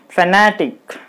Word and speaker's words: fanatic: So you put the stress mark on the syllable. N-A, na. Then it will be fanatic.